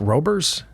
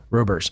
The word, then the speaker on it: Roebers: where people were saying that's an ooh sound like the OE in our word shoe. S H O E. It's pronounced oo. So rubers.